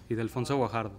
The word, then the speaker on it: Ildefonso Guajardo: Yes, Ildefonso Guajardo.